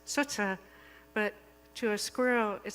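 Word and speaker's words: Tsts: And then there's the squirrel whose name is spelled T-S-T-S, which humans pronounce as sutsa, but to a squirrel it sounds more like.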